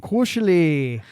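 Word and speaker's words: koselig: So kushi is k o s e l i g.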